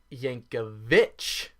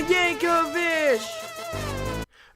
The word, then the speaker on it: Yankovic: What I can't let slide is that you spelled Yankovic right, yet you still pronounced it Yankovic. Weird Al Yankovic! Do you see an H there? Or there? Or here? Or anywhere? I don't.